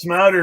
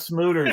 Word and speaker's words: Smouter: Smatter, not smoother.